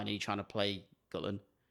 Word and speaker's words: Gullane: picked up the phone and she said, "Hello, Gullen Golf Club. Lisa speaking. How can I help you?" And I was like, "Hello." Okay. So, it's Gullen, is it?